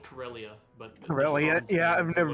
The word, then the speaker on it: Karelia: Carlisle or whatever. I don't really know how to pronounce. What? It's called Karelia, but...